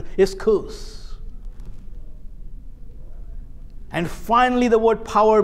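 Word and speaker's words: ἰσχύς: c h u s it's not pronounced esus it's isus and finally the word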